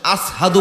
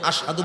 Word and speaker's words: আশহাদু: ওই যে পেরেক ঢুকাইছে, খুলছেন, এই জিব্বাটা ছোট হয়ে গেছে, উচ্চারণটা সঠিকভাবে হতো না। আসহাদু বলতেন, আশহাদু বলতে পারতেন না।